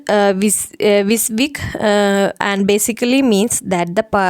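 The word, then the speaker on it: WYSIWYG: It is pronounced Visvik, and basically means that the printer will print what you see on your monitor.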